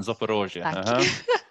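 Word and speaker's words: Zaporizhzhia: That's it, the pronunciation, Zaporizhia.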